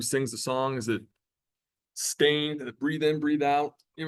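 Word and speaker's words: Staind: I think it's Stain with a D, so Stained.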